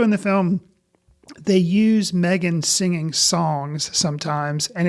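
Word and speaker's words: M3GAN: my recommendation and that is the way you pronounce it is Megan Megan m g n even though the E and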